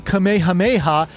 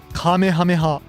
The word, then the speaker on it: Kamehameha: No, it's not the Kamehameha. It's the Kamehameha.